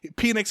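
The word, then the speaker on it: Penix: one what is it it's spelled p-e-n-i-x it's so good Phoenix is really you know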